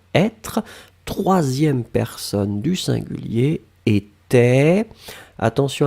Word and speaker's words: était: Et la dernière chose, c'était de l'imparfait du verbe être, troisième personne du singulier, était. Attention à la belle nouvelle, j'avais bien prononcé était, d'accord, était installé.